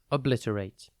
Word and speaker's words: obliterate: one word at a time today's word is obliterate it is pronounced AIT rate and spelled o b l